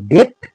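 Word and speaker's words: debt: হিজ ডেট ডেট মানে হচ্ছে ডি বিটি আমরা উচ্চারণ করব ডেট ডেট মানে হচ্ছে ঋণ তার ঋণ পরিশোধ করতে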